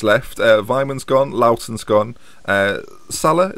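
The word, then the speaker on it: Sylla: So Darren Bent's left, Vyman's gone, Loughton's gone, Sailor, how would you say his name? Silla.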